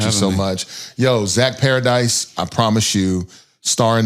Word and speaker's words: Paradis: at the end of paradise i promise it's pronounced paradise but it is not spelled with the e8 it is french it